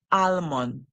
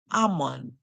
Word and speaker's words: almond: on almond almond so it's not almond it's Ammon Ammon Ammon okay so we hear